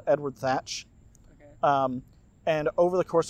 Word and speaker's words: Thatch: And they actually pronounce it like thatch. Yep, and it's spelled like the covering on a house, like thatch, yep.